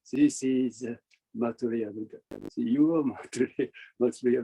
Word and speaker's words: Maitreya: This is Maitreya Buddha.